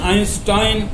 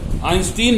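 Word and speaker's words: Einstein: इसी तरह से यही रूल आइंस्टाइन जो हम गलत बोलते हैं, सॉरी आइंस्टीन बोलते हैं, that is नॉट आइंस्टीन, that is आइंस्टाइन। यहां पर उसका अपवाद हो गया, ये आइंस्टाइन होगा,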